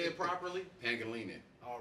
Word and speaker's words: Pangelinan: That's PANGELINAN. Oh damn! I butchered the name. So say it properly. Pangelinan.